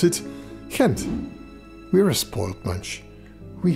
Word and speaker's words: Gent: again or as we gentians pronounce it kent we're a spoiled munch we have so much